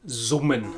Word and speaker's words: summen: beginning of a word before a vowel is pronounced like an English Z or Z. And that's also why in German buzzing is summen.